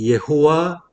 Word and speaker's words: 여호와: 4절에서 보면은 여호와 하나님이라는 이제 하나님에 대한 칭호가 나오죠. 예. 하나님에 대한 칭호가 1장에서 2장 3절까지는 엘로힘이죠. 하나님 엘로힘이라고 하고 2장 4절부터 여호와 하나님으로 이제 바뀌죠. 원래 발음은 예호와 엘로힘이라고 해요.